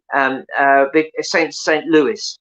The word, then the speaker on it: St. Louis: Louis, St. Louis, as it's pronounced.